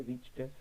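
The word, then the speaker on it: reached: यहाँ पे रिच्ड, यहाँ पे ट के जैसा प्रोनाउंस होता है, ड के जैसा नहीं, जिसको पढ़ने का तरीका होता है, आई रिच्ड आफ्टर देम।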